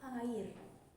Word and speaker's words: air: In English, there is the word air. In Indonesian, there is also the word air. But what makes the difference here is in English, the pronunciation of the word air is as follows, air. Meanwhile, Indonesian pronunciation is different, namely air.